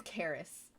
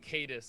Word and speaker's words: Caris: it visible doxy oh her name is Caris Caris I always say it wrong that's that's okay it it's going to take a couple sessions I'm sure I keep saying cadis instead of I know that's